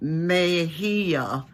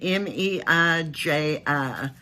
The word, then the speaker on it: Meiji: So this could potentially be a real bargain for a piece of Japanese history during the, let me pronounce it, Meiji period, M-E-I-J-I, Meiji era.